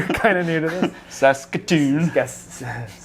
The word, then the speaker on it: Saskatoon: Saskatoon. No, that's how you say that. Okay. I thought it was Saskatoon. You put the wrong emphasis on the wrong syllable.